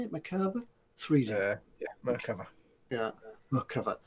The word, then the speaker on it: Merkava: Bench, Hobby Boss 135 Merkava. Is that how you say it? Merkava?